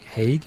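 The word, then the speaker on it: Haaga: Um, the writing credits, Trent Haga. There's a grip, but let's see. It's Trent Haig. That's how you pronounce that.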